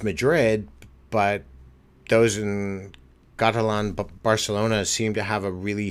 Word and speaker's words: Barcelona: Madrid and Barcelona Valencia Barona sorry I will add in the proper pronunciation Barcelona I've been to Barcelona